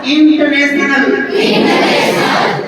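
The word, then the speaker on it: international: बोलो एक बार, English is इंटरनेशनल, इंटरनेशनल। यहाँ आर साइलेंट होता है, क्या होता है? आर का उच्चारण नहीं करना, तो क्या हो जाएगा?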